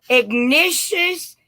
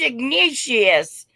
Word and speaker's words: Ignatius: yes it is George Ignatius I think it might be pronounced Ignatius but okay let's allow for